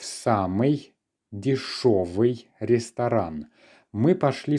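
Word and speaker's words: дешёвый: We do use the letter ё, and we pronounce it as шо, дешевый, okay?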